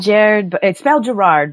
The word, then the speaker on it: Gerard: Yeah, it's spelled Gerard, but it's Gerard because he's from Northern Ireland.